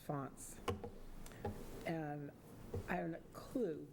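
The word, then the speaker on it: fonds: F O N Ds, pronounced fonts.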